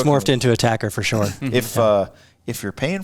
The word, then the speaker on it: ATACR: ATACR, people like to call them ACTARs. Tactical Rifle Scope. Yeah, I think we should get it once and for all from Nightforce themselves to pronounce it so that everyone can just stop the debate. You got to be careful. I know they like it ATACR.